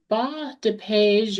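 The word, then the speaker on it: bas-de-page: I don't speak French, but it's ba dee or it's spelled B A S D E P A G E.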